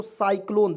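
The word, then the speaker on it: cyclone: से देखिएगा यहां देखेंगे सी वाई सी एल ओ एन ई तो इसे पढ़ेंगे दोस्तों साइक्लोन सी का उच्चारण स के रूप में हुआ कि नहीं हुआ कि नहीं तो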